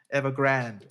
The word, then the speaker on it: Evergrande: from the likes of Avang, how do you pronounce that? Grande? Okay, whatever. Evergrande.